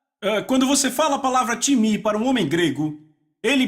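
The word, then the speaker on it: τιμή: time então soletra si pm é em português pronunciamos talvez time não se pronuncia dessa forma em grego se pronuncia time repita o time que então eu falei com várias não deveria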